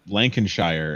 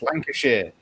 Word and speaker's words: Lancashire: there was a person from Lancashire and there was someone from Don't Lancashire. say it like that. It's Lancashire.